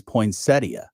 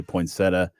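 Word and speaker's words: poinsettia: Cod point centa I I did the Google uh the Google Voice I'm pretty positive says poia oh I'm sure it does that's how they pronounce it and so but yeah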